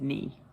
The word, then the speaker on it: knee: And you don't even pronounce the K. It's silent. It's between your thigh and your calf. And I bet you said knee.